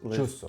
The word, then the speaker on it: chuço: Escreve-se chusso, mas chusso.